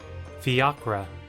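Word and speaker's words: fiacre: Fiakra.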